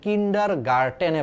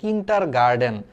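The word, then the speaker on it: Kindergarten: উচিত ছিল কিন্ডার গার্ডেন আমরা উচ্চারণ করি কিন্ডার গার্ডেন খালি ড উচ্চারণ করি খালি ড ঠিক আছে ড ড না কিন্তু উচ্চারণটা একচুয়ালি হওয়া উচিত ছিল কিন্ডার গার্টেনে পড়ছি কিন্ডার গার্টেন গার্ডেন না কারণ তুমি যদি উচ্চারণ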